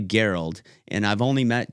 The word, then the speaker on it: Garold: Because Garold is not a very common name. I'm sure most of the people listening probably, Garold, that's pretty cool. Well, it's actually Garold, and I've only met 2 other ones in the world.